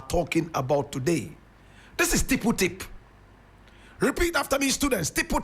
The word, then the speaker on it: Tippu Tip: Tipple tip. Tipple is spelled t i pu and tip is t i p.